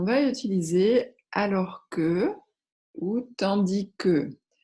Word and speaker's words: tandis que: utiliser alors que août tandis que vous remarquez qu'on ne prononce pas le s alors que tandis que